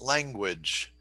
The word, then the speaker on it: language: Is it on the first or the second syllable? The first syllable.